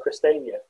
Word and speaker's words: Christiania: Yeah, so problems with things like Christiania, that's how it's pronounced.